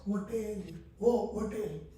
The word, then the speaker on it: hotel: to keep the letter they keep the h letter silent and they used to pronounce hotel hotel okay in the Modern English we are pronouncing hotel we are not keeping